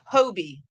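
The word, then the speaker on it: Hobbii: So we got some pronunciations. I'll start from the bottom. Okay, Hobie. Got you. Who else says that? We got another Hobie. Hobie. Okay, it's a consensus. I will now call it Hobie yarn.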